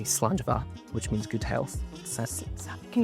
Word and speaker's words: slàinte: So in Scotland, we don't say cheers, we say slàinte, which means good health.